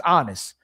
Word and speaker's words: Aanis: His name's Honest, but it means peace. It's spelled AANIS, right?